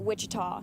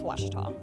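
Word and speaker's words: Ouachita: Back in Texas, everybody pronounces it Wichita, but really, it's Washita.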